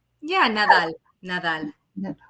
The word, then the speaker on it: Nadal: us this evening Nadal. Am I saying your name right? Yeah, Nadal. Nadal. No. Oh, I can't say it like that because I can't do that little roll of the tongue.